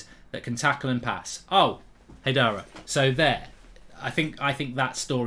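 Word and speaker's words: Haidara: I mean, hypothetically, right, we go for this lad from Leipzig, Hadara, if that's how you pronounce it, and Amadou Hadara. Got to get pronounced Hadara. I was calling you Amadou Hadar.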